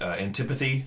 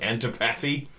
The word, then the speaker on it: antipathy: our last two episodes I mispronounced antipathy twice I said auntie patty oh really I notice